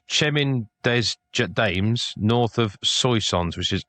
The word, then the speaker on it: Soissons: Chemin des Dames, Chemin des Dames, north of Soissons, which is S O I S S O N S.